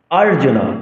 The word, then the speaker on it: অর্জুন: ইদামাহ মাহিপতি পরাচ্ছি আরজুনাবাচ আরজুনা অর্জুন বলা যাবে না আরজুনা উবাচনা দীর্ঘস্বর আবার দীর্ঘসবর